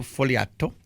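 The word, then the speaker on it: Fogliato: Pretend there's no G. G is silent. Foliato.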